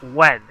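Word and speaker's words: Nguyen: that but it's pronounced when you're talking wait what um there's I forget there's a last name an Asian last name that's spelled n g u ye n but it's pronounced when like when and it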